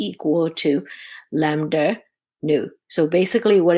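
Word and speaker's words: ν: Frequency is also represented by letter new. Look like a V, uh but it's actually pronounced new, which is come from C equal to lambda new.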